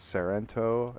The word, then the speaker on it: Sairento: si IR en tio so it's Sorento is how I like to pronounce it I'll put a link